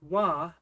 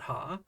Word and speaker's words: は: getting at when we write a sentence with W as the topic marker or subject marker then it will always be pronounced W not ha and it marks the subject of the sentence